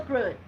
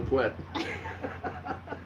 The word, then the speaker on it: Pruitt: Say his whole name. Bill Pruitt. To him, it sounds like Bill Pwett.